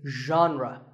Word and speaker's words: genre: would you say it the correct pronunciation is genre pay attention to the first sound it's like but you have to put your voice into it genre genre next up